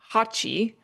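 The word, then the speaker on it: 八: So that makes me think clap feverishly because uh so the reason why they do this is because the number eight is pronounced hatchi and the anamonopia for clapping is pachchi pachchi.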